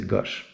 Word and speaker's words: gauche: On va prononcer gauche comme un Marseillais, ok? Avec un O ouvert, donc c'est gauche.